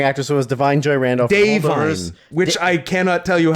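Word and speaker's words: Da'Vine: Dave Vine is fine. Whatever. I don't give a shit. It sounds like a guy named Dave Vine.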